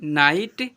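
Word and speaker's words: night: एच टी में आया जी एच हमेशा साइलेंट रहता है। एग्जांपल पर एफ आई जी एच टी फाइट एल आई जी एच टी लाइट एन आई जी एच टी नाइट एम आई जी एच टी माइट ऐसे पढ़ते हैं।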